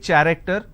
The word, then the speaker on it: character: I have the letter CH and it's pronounced as K. I don't say character, I say it character.